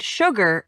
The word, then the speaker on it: sugar: Sure and sugar are the only two words in the English language that begin with s u and are pronounced shh.